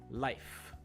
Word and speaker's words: life: Or life, not life. So you don't want the hu sound at the end, you just want the f. You want to stop at the strong F sound.